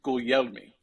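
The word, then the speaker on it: Guglielmi: Yeah, so give me that Italian pronunciation. Gugleilmi. Gugleilmi. Okay.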